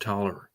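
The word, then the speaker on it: Taliaferro: But it's spelled talifer pronounced taller and it's like army corpse of engineer you know like that.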